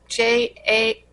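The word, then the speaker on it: Jhené Aiko: Jen Ako. It's Jheneaiko, and the song is BS.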